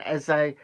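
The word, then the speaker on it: Esse: M wall um Roman e and um it's spelled e s e but it's pronounced uh as if you're writing an essay um that's why I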